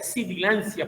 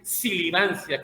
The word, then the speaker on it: sibilancia: Y la palabra ya es correcta, es sibilancia, porque hay personas que dicen silivancia, como el silbido.